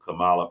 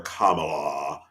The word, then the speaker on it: Kamala: running mate that um Kamala picked oh okay I'm not gonna call her Kamala her name is Kamala who cares how you